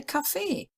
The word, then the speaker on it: Kaffee: And then we have that word, Kaffee. Now, based on the German rule, the emphasis would be on the first word, Kaffee, but a lot of people say Kaffee.